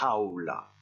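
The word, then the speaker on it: jaula: se prononce à houla attention à la prononciation du gie tu as est dure et ça se dit je vous répétez après moi ahola au dessous un mot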